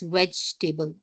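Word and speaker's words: vegetable: comfortable and वेज टेबल वी डू नॉट से ई after ji इट्स वेज टेबल B must not बी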